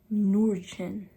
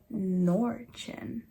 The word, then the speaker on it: Norchen: my dad's like yeah but then the real pronunciation was nurtun and my whole life i was told that my name was nor chen do you get i